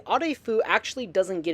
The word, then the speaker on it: Arefu: So if my Romanian pronunciation is okay, the proper pronunciation would be a fu. However, some of the characters in Fallout 3 simply say Arfu. Some of them say Afu, some of them say Arfu.